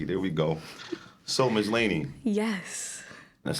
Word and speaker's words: Lanie: life like hey there we go so miss laney yes that's how you say it correctly right